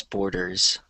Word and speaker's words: borders: And then I think the other one was borders. Z. So just the Z at the end.